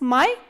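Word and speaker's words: моя: house similarly we have मया मया this या स्ट्रेस्ड त मया काता दिस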